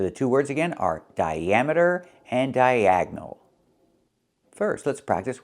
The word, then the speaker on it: diameter: Here, the I makes a long I sound, but the A makes a short A sound like black cats. Because we're moving the stress, we're moving the stress to the second syllable. Dia diameter and we link the two vowels the I and the A with the Y sound like in yellow and yesterday.